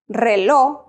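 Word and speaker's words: reloj: let me repeat that if the letter J is at the end of a word we do not pronounce that letter so Thursday it's pronounced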